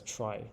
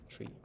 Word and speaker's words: trie: Um and just a fun fact about the origin of the word trie, so it comes from retrieval. All right, but it's pronounced as trie, not tree.